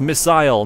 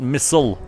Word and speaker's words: missile: I'm not American, and missile has two eyes in it. That's why it's pronounced missile, not missile. Anyway, not good.